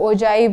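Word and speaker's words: ogive: कई लोग ओजाइव बोलते हैं, कई ओगिव बोलते हैं, बट वी यूज the term as ओजाइव, we pronounce it एज ओजाइव, right.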